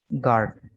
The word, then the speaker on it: guard: ठीक है, यहाँ पर भी ये जी के साथ यू है, गार्ड। ठीक है, GUARD, गार्ड।